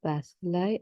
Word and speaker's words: bacilli: If it is a question of forces, how or where do these millions of bacilli and viruses come in?